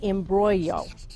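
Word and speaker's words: imbroglio: of the word is embroyo oh I'm going to assume it's this Laura's a Little Closer b-r-o-g-l-i-o oh I I wouldn't have put that g in there nope no it's a silent G they're tricky here we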